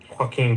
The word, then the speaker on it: Joaquin: Joaquin So, Phoenix. I think so. It's just Joaquin. Like, Hey, you sound like you're gonna spit a loogie when you say his name.